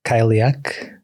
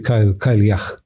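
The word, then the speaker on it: Cailleach: E também dentro da mitologia Celta existe uma figura que eu não sei se pronuncia bem assim, mas Kak. Eh, parece que se pronuncia Kilah.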